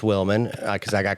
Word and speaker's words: Willman: Cuz I was I knew people mispronounced Wilman cuz I got called Justin Williams every day of my life, right? People just see W I L and then they stop reading.